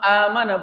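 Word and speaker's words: آمَنَ: itu asalnya bukan langsung amanah bukan, tapi asalnya itu berasal dari kata amanah. Nah, hamzah yang kedua atau hamzah yang sukun itu diganti menjadi alif karena hamzah pertamanya adalah fathah sehingga dibacanya amana.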